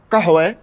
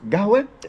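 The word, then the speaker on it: قهوة: We're talking about how to say the word, what I learned it originally as kahwe, which is coffee. And here, down south, the Bedouin, it's gahwe.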